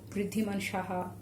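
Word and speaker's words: Riddhiman Saha: So yeah, try to write Bhuiya with the long U, and that is the Bha, and that is how Riddhiman Shaha should be pronounced.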